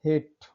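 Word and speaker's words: hate: Rule में first देखते हैं, किसी शब्दों के अंत में जब ई आए, ई हमेशा साइलेंट होता है। देखिए हेट, नफरत होता है।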